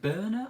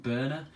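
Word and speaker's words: Börner: I think is it Berner? I think he said is how you pronounce his name. Berner.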